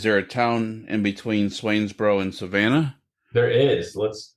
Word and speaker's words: Swainsboro: So, and it's pronounced Swainsboro.